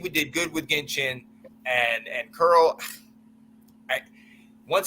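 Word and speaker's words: Chinn: did like Carl but this this this Jeremy chin right that's how you say his name Jeremy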